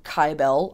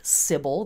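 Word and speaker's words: Kybele: old gal named Syble or kyel um I pronounce her name kyel a lot of people pronounce her named cibil they spell it with a c i spell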